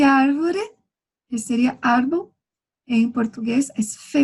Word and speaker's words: árvore: árvore. A árvore. A árbore. Recordando que eu dije arriba que a V nunca se pode cambiar por la B. Então, va, ve, vi, vo, vu.